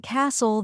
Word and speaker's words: castle: H is silent and Castle the t is silent that's true and the